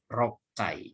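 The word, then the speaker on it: 六回: Kemudian nomor 4, ini shukan ni rokai. Jadi bacanya rokai, roku dengan kai, ya.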